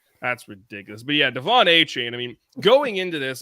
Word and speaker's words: Achane: Devin Achane, if I pronounced that correctly, right there, Zach? Ooh, yeah. Achane.